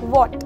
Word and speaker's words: what: अगर मैं बोलूँ वॉट, मैंने क्या बोला? वॉट, WHAT। यहाँ पर आप देखेंगे कि W के बाद H आया हुआ है, पर हमने बोलते समय H को प्रोनाउंस नहीं किया, मैंने सीधा बोला WAT, वॉट।